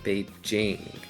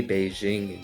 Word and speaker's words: Beijing: It is actually pronounced Beijing. They don't say Beijing in China. That's just like an exoticism that Americans added to the word because they thought it sounded more foreign.